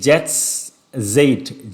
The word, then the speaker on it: Jetztzeit: I don't know how to pronounce it. It's Jetztzeit, J-E-T-Z, T-Z-E-I-T.